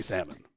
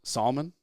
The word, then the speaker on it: salmon: raised yeah salmon yeah I like making fun of my buddies who say salmon I was going to say it salmon salmon it's definitely salmon yeah no that was I was joking yeah I have one buddy I don't think he listens so he won't be offended but I'm not going to call out his name he says Solomon have you heard of